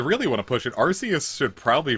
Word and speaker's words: Arceus: uh running around pronouncing they don't want kids a pokemon with the word arse in the beginning of the name so yes it's supposed